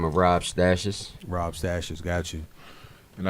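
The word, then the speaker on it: Stashiz: that from well Monday Rob stashes basically is stash says the way I spell it as s ta shi Z so it's basically like stashes - keeping it in a tough ok Jimbo slice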